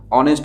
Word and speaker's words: honest: কি, এই যে অনেস্ট, HONEST, এইটার উচ্চারণ হনেস্ট হবে না, অনেস্ট হবে, অর্থাৎ ভায়েল সাউন্ড দিয়ে শুরু হচ্ছে, তার জন্য এখানে হয়েছে কি অ্যান।